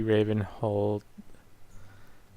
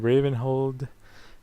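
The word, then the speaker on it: Ravenholdt: kind of thinking the Raven hold assassin didn't know there's a t on the end of that that Raven hold assassin I guess the t is silent but uh I could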